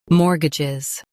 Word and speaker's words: mortgages: Now read the syllables shown on the screen naturally. More. Guh. Jiz. Mortgages. Stress more and soften gizz.